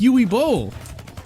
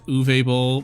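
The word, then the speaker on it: Uwe Boll: I like UI Bowl. I know it's pronounced Uve Bowl, but you know what? It sounds funnier when you say UI, cuz no one can take somebody named Yui seriously.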